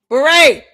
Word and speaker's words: beret: Beret. Candace, it's Beret. beret. You hear that, Candace? This is how you can pronounce saying your words correctly.